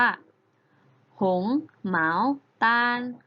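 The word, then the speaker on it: 红毛丹: เงาะ นั่น เอง ค่ะ เงาะ ใน ภาษา จีน แล้ว จะ ออก เสียง ว่า หงส์ เหมา ตาล ผง หมาว Tong หงส์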